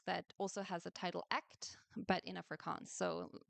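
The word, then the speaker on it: Ek't: also has a title act, but in a forance. So maybe I should just say a word about the title. So it's it's two words uh that are pronounced exactly the same.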